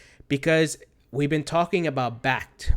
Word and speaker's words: Bakkt: we've been talking about backed or a bhakta I think it's back it's pronounced bak bak KT which is being launched